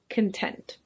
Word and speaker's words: content: and that's pronounced content but this adjective is pronounced content it means pleased or satisfied if you can